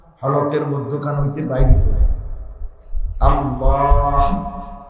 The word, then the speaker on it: আল্লাহ: মধ্যখান হইতে বাইর হতো আল্লাহ শেষে একটা ছোট হা আছে আল্লাহ এই এই এটা উচ্চারণ করতে আপনি সুবহানাল্লাহ সুবহানাল্লাহ সুবহানাল্লাহ কি হাত উচ্চারণ আল্লাহ একটা হা আছে না তো এইটার উচ্চারণ